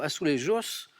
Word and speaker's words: azulejos: Alors là, on la prononce à l'espagnol et je vois que les premiers modèles ont été conçus au Portugal en 1584. Alors du coup, Portugal, on dirait plutôt azulejos en portugais, mais j'ai envie de